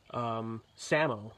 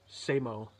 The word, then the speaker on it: SAMO: like when they pronounced it they would say Sam oh but it's actually pronounced say mo because he would explain that you would go